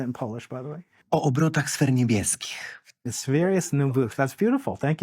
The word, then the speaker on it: O obrotach sfer niebieskich: O obrotach sfer niebieskich.